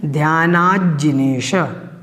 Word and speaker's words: ध्यानाज्जिनेश: अब आपको यहाँ पर ध्यान रखना है, पहली पंक्ति में जब आप बोलेंगे तो आपको बोलना है ध्यानाज्जिनेश, ध्यानाज्जिनेश।